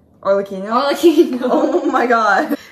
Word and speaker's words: Arlecchino: How do I pronounce her name? Arlecchino? Arlecchino.